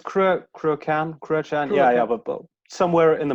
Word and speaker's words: Cruachan: It's Cruachan.